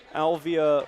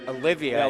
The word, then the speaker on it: Olivia: So it'll be a moving screen against Reynolds, that one against Alvia Franklin. And it'll be Central Catholic ball. Olivia, I think is the way they pronounce it. Correction, Olivia Franklin.